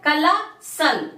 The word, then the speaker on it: colossal: Last देख लेते हैं, COLOSSAL, ये क्या है, कलासल, क्या हो जाएगा, कलासल।